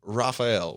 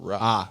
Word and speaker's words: Raphael: Raphael. Raph. Raph. Raph. Raphael. I thought you just barked. I just You said Ruff. No. The way you pronounced Ruff and Raphael are two totally different. Why are you changing it for one?